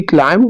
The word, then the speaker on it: climb: rights number two he climbed over the wall in this sentence climb is a word which has be silent number third he bought